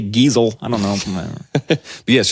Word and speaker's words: Geisel: Or Giesel, I don't know how you say it. Geisel is how I've always heard it.